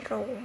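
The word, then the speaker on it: rho: Ki lembaga dengan seperti huruf o ya Ini bacanya roh ini juga eh perumusnya yaitu Sigma XXI Medan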